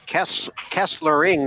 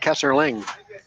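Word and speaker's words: Kesselring: one too as well it's Kessler ring not Kessler Ling yeah Kessler ring and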